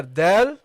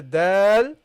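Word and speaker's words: دال: Okay, the dal without any dots, and the dal with a dot. Okay, with a dot on it. And when you pronounce a dal, look, dal, you don't see my tongue coming out.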